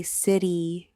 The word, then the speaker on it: city: city in it and I pronounced it like kitty with a hard k sound because of the c at the beginning. And then I heard someone say city correctly and I realized I was completely wrong.